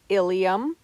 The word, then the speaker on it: ilium: different meanings for example ilium and ilium are both spelled differently yet are pronounced the same the ilium is a